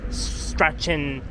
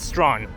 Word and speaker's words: Strachan: I mean, it is true if we would call it Strachan Avenue, but it's Strawn. So that means the CH is a silent pronunciation.